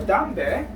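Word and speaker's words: 담배: So dambe is a cigarette in English. So again, the condition, if placed in the first part of the syllable, it will be pronounced as D, and if it's placed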